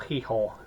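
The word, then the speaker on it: Gijón: Lovely Hotel and then we went on to gee or hi as it's correctly pronounced and um which is right on the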